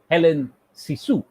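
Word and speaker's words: Hélène Cixous: french feminist critique called helen sisu note the spelling c i x o u s there are certain you know stresses on helen but it is primarily sort of pronounced as helen sisu and this is from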